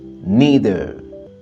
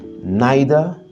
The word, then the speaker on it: neither: de s'afficher sur l'écran si tu as l'habitude de dire na na c'est que ton accent est britannique mais si tu dis Neer neither c'est que ton accent est américain que tu dises neither ou bien neither les deux variante existe nous